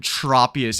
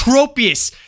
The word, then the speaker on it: Tropius: And if there's one consonant between two vowels, the first vowel makes its capital sound.